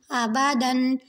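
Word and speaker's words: آبادًا: حمزہ زبر آ، با زبر با، دال 2 زبر دن، آبادن۔ اب یہاں پہ جو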